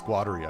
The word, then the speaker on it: Guattari: It's how I pronounce it, Guattari. Guattari is another one. But it's Guattari, I believe. Varun, you're the Guat. What? You're the Guat guy. How do you pronounce it? Qatari. Qatari. Guattari. Allah's in Qatari. Yeah, I'm not going to do that. So it's Guattari for me because I anglicize and